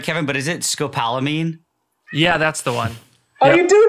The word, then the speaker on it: scopolamine: I don't know if I'm pronouncing it right, Kevin, but is it scopolamine?